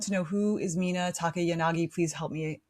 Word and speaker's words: Takayanagi: Yes, it's a Japanese name, by the way, that means tall willow tree, Takayanagi.